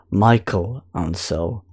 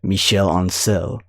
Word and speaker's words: Michel Ancel: Instagram, Michel Ancel, well, some people have been pronouncing him as Michael Ancel, but the true French pronunciation is Michel Ancel.